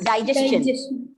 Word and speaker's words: digestion: Even it is digestion.